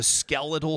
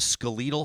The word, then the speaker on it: skeletal: Number one, the skeletal system or the skeletal system. Yeah. When you're talking about, I think that people don't see eye to eye on that, but you say the skeletal system because it's a skeleton.